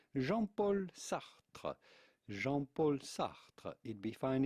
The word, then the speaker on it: Jean-Paul Sartre: She and her lover, Jean-Paul Sartre. Jean-Paul Sartre. Jean-Paul Sartre. It'd be fine in English or American to pronounce Jean-Paul Sartre.